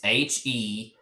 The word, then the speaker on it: heter: Well, there's only one T, so that means that the E is going to be a long E. So that is pronounced heter. You kind of see how that E is not a heter. It's not that. It's heter.